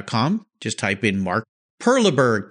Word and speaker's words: Perleberg: at cars yeah calm just type in mark Perla Berg P er l eb ERG a great German